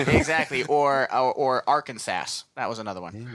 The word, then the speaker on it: Arkansas: Or Arkansas.